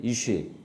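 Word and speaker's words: אִישׁ: 발음도 어떻습니까? 발음도 어때요? 비슷하죠? 이시이 다시 한번 따라 보세요. 이쉬 이시 이 이샤 거꾸로 하시면 안 됩니다.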